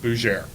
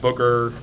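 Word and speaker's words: Bauer: intro who am I my last name is pronounced bouer not Booker not bger not where I don't know why they get those extra vows from it but uh bouer so uh spent 13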